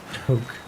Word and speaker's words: toque: Despite the maple leaf hat, which is a French word that I'm not entirely sure how to pronounce, but I think it's toque.